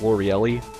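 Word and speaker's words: Lorelei: Spoiler alert, it's L'Oreelli. That's how you pronounce her name.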